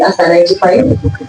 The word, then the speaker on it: Aster: Please, when you're talking to Esther, that is a very different person and she's not here. The person standing before you is Aster. I thought I would really love to correct the pronunciation of the name.